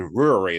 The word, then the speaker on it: Ruaridh: All right, Mikko and Ruaridh. Is that how you say it? Yeah, perfect.